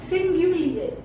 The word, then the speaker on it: singulier: In French, singulars are pronounced at singulier and plurals are pronounced at pluriel.